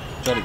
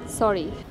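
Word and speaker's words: sorry: আসার কথা ছিল ও চরি চরি উচ্চারণটা চরি না সরি এস I know actually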